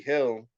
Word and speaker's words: Gil: How like Louis Hill. He black? Nah, it's some Dominican nigga. Hill is spelled Gil.